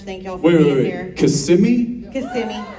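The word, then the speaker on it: Kissimmee: you guys miss that how would you not want it to be Kissam me I guess it depends on who you're talking about a lot a lot of people still say it like that though but yeah technically it's cimi yeah I like it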